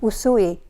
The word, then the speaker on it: Usui: How do you pronounce it? Usui.